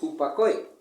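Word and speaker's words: ὑπακοή: La palabra sumisión viene de la palabra griega, en el Strong 5218 del griego, tiene una pronunciación que es hupakoe, ¿sí?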